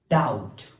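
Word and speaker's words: doubt: Number next word is डाउट. What? डाउट, किसी पर शक करना. तो डाउट में हमारे पास जो बी है दिस इज द साइलेंट.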